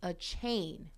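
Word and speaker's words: Achane: and going back um apparently his name is pronounced a chain a chain a chain So Divine a chain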